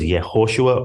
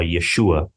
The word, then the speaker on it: Yeshua: girl continue to live his name was yosua or Yeshua whichever way you want to pronounce it and he became